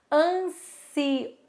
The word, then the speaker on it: ansioso: Esse oso a gente faz com som de Z porque tá entre duas vogais. Se você for ver, o primeiro S tá entre o N e o I. Então a gente pronuncia com o som do S mesmo, com S.